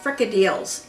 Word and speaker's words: Frikadelle: way i said yeah when i was a kid they were called frica deals that's the american pronunciation of them what are